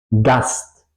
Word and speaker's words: Gast: Gast, gast, invitado, ¿ok? Yo separo la S y la T. Eso sería la combinación de S y T.